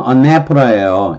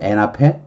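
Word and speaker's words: anaphora: 이렇게 됐다 그래서 전방조응이라고 얘기를 한 건데 근데 영어로는 언네프라예요. 엔 앞에? 엔 앞에라? 근데 처음에 공부하면서 이거 아 이거 뭐야? 엔 앞에라고? 엔 앞에라? 영어식 발음이 아니죠. 언네프라 이렇게 발음해야 되겠죠.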